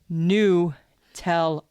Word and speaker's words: Nutella: most used word the the worst number two mispronounced Nutella is number three and it's new tell uh not Nutella it's Nutella n-e-w-t-e-l-l Dash uh